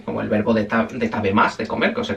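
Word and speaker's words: 食べます: Como el verbo de de tab más de comer que os he comentado antes. Tab más, se escribe tabasu, pero se pronuncia más, ¿vale?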